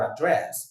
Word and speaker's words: address: In the British English, it is address. The verb is address. The noun is still address. But, in American English, it is address for the noun and address for the verb.